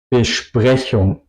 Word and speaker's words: Besprechung: Pues la segunda sílaba empieza con la SP, por eso se pronuncia SCHP. Besprechung, Conferencia.